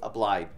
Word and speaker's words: obliged: So if you can and if you would like to, please support, but do not feel obliged to. I almost didn't pronounce the G in there, and I didn't want to be made fun of.